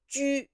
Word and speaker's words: ju: And when we spell with it, sometimes we have to lose the two dots, but it's still pronounced yu, not wu.